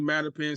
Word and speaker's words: Mattapan: Yeah, Mattapan CDC.